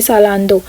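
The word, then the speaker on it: Zalando: अच्छा, ये ज़ेलैंडो मैंने आपको बताया था, मुझे नहीं पता मैं इसको इंग्लिश में कैसे प्रोनाउंस करूं, क्योंकि यहाँ पर इसको प्रोनाउंस करते हैं जर्मन में सालांदो, ठीक है।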